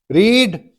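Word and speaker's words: read: रीड, रेड, रेड। लिखा गया भी रीड ही है, पर प्रोनाउंस इसको प्रोनाउंस करते हैं रेड, रेड।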